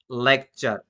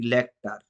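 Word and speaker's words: lecture: যেমনটা লেকচার, আমরা একবারও বলিনি লেকটার, একবারও বলিনি, আমরা বলছি লেকচার।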